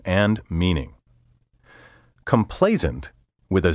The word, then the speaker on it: complacent: Complacent, with an S sound in the final syllable, has a negative connotation.